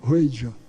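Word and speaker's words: Wheydja: Eu disse, como é que se escreve? Ela disse, W-H-E-Y-D-J-A, Ruedja.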